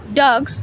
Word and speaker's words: dogs: The second dogs pronounced Dogs with a trailing Z at the ends, cats, dogs.